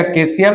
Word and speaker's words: chasial: मोनोकेसियल, चेजियल या केसियल, बेसिकली केसियल ही प्रोनाउंसिएट होता है.